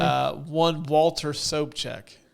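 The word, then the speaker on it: Sobchak: that's from water so check yeah am I pronouncing his name correctly uh one Walter soap check soap check okay it's just spelled differently than it's pronounced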